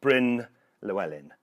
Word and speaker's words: Bryn Llewellyn: as you can see my name there is a Welsh name and in English I'm used to pronouncing it Bryn Llewelyn and Bryn is very easy to pronounce I'm sure when I lived in Norway I was known as and I'm quite used